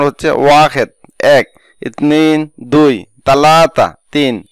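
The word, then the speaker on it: واحد: কথা বলার সময় বলে থাকে ওয়াহেদ আর সঠিক উচ্চারণ হচ্ছে ওয়াহেদ এক ইতনি দুই তালাতা তিন আরবা চার খামসা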